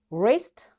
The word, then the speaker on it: wrist: So we are going to learn few letters W is silent when it comes before R.